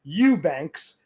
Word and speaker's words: Eubanks: Eubank ks pronounced Eubanks.